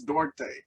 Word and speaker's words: Duarte: Chris Duarte.